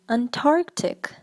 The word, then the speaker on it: Antarctic: the next word is Antarctic Antarctic many people say Antarctic they for some reason they missed the N but the N here it is not silent so you should pronounce it and the correct pronunciation